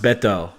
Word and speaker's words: Baito: that but uh hey baito is pronounced Beto I don't pronounce my